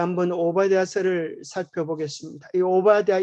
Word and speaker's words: 오바댜: 오발 디아 3를 살펴보겠습니다 오바다 이름이 좀 어려워서 발음 하여 좀 쉽지 않은데 경상도 빠름을 하면 좀 해 오기가 쉽습니다 오빠다 이렇게 하면은 좀 비슷하죠 오빠다 전 발휘한 대명 들을 케라 들어오신 좋겠습니다 근데 원래 오발 태아가 원래의 오바 자가 아니고 5 바드 야인 및 오바 더 야 를 줄여서 오바 태아를 이렇게 발음을 하는 것입니다 오바 더 야 이